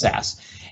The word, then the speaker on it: SCSS: of the theme dot theme dot sas scss pronounced sas and in here you'll see all of the